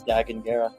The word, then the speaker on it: Dagan Gera: He says his name is Dagan Gera.